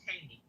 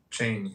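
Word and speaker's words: Cheyney: I believe that's what he was trying to pronounce. Yeah. Yeah. Yeah. It's called Cheney. Cheney.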